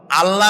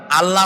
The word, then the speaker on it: আল্লাহ: গুণাবলীতে বিশ্বাস আল্লাহর নাম আল্লাহ বলেন তো আল্লাহ নয় কিন্তু আল্লাহ হচ্ছে অশুদ্ধ শুদ্ধ হচ্ছে আল্লাহ বলার সময় মুখটা গোল হয়ে যাবে বলেন তো সবাই উচ্চারণ